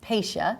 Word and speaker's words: Pasha: a little bit first of all the correct pronunciation is pacia correct p a s ha a pacia is